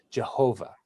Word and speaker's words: Yahweh: they would say Adonai instead of actually saying Yahweh. Or one of the other ways that people have been pronouncing it for hundreds and hundreds of years is Jehovah.